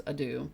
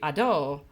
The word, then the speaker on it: Ado: is Adu, which I recently learned that Adu's name is not pronounced the way that I've been pronouncing it, which I feel stupid because I think it's supposed to be Ado, which is even funnier because